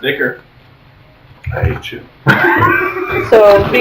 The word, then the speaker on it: ichor: That's because it's pronounced Ichor.